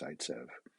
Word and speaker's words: Zaitsev: this name spelled phonetically various ways but it's pronounced saitzev he was actually a a colleague of markovnikov and you remember makovnikov from earlier zaitsev looked at these types of elimination reactions and